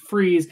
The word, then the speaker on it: Fries: freeze you pronounce it freeze it's spelled fries but pronounce it freeze so remember poison I